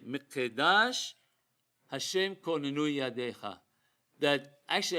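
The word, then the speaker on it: מקדש: According to Sephardi pronunciation, we say Mikedash, not Mikdash. Why? Because the word is not Mikdash, meaning temple. It has a hizuk, a dagesh in the kof.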